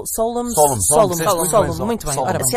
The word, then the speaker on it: Solemn: Como é que devemos pronunciar Solemn?